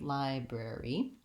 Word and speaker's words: library: In the bre-ee part, we have this word rare, and so working on the word rare might help you. We also have to add a B to it, and finally the letter Y says the sound E, the tense vowel E in this word, library. I'm going to build that